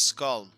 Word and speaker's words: Skull: hey what's up everyone this is Skull yes that's how you pronounce my name and as always I